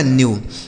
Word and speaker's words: new: जैसे NEW, तो एन से आधा न, EW का उच्चारण यू, यह लिखा गया आपका न्यू।